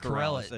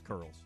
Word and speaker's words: Corrales: It's not Corrales. He said Taylor Zarger, who's on call for the SC Network, said Corrales, not Curls. Yeah, it's Curls. It's always been Mark Curls for the 15 years he's refereed in the league.